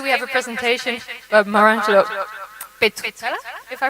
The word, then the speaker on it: Maurangelo Petruzzella: So today we have a presentation by Maurangelo Petruzzella, if I pronounce it right?